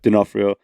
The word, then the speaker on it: D'Onofrio: Is that how you pronounce his name? Vincent D'Onofrio, yeah. D'Onofrio.